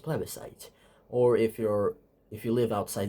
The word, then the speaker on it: plebiscite: Yes, it's pronounced plebiscite.